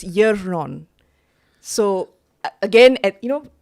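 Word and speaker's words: Yaeron: And he gives me his name, which is uh so it's spelled Y A E R O N Yon.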